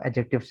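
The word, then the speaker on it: adjective: ठीक है, एडजेक्टिव, D silent इसमें पढ़ा जाता है। बाज डी को भी पढ़ते हैं, लेकिन आमतौर पर साइलेंट पढ़ा जाता है।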